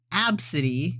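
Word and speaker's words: Abcde: go first then uh first one absidy but it's spelled a b c d oh oh my God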